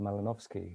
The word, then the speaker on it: Malinowski: library holds the papers of uh the anthropologist pronounced lava melanovsky who is the focus of the event uh